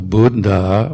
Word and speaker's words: buddha: and sangha try to pronounce both letters of a double consonant that's really difficult so buddha or sabbah and what i do